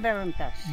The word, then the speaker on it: Belintash: How would you spell it? The local population says Belintash.